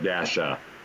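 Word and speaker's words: La-a: I have met a lad Dasha before where they pronounce The Hyphen so it's l a hyphen a we pronounce the hyen as Dash so Dasha um very unique name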